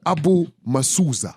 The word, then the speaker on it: Abu Musuuza: Abu Musuuza. Did I pronounce it correct? Mr. Abu Musuuza.